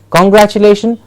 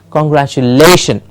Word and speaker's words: congratulation: congratulation but congratulation okay generally we always have the stress in the beginning congratulation that's incorrect the correct pronunciation is congratulation yes congratulation we have